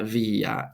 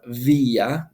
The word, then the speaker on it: via: It'll say non longa via instead of via. The V would make a W sound.